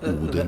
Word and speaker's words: Odin: have been engraved by Odin That's himself. Swedish pronunciation, though.